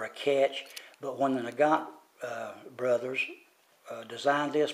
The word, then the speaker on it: Nagant: thing i found out that in in russia nagant as we say in america they in russia